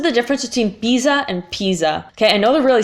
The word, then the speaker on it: Pisa: and then so it's Pisa so guess not Pisa no Musa yeah so the S fix is dead sound is between two vowels and it's only one e same thing we need